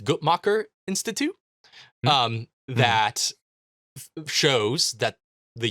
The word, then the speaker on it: Guttmacher: But for one, there's a graph from the, I believe it's pronounced Guttmacher Institute, that shows that the U.S.